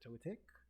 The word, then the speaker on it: Togetic: How do you pronounce it? Togetic.